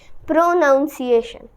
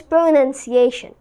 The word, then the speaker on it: pronunciation: just learn a few things that's of people say pronunciation which is wrong it is pronunciation nunciation because the spelling is also like that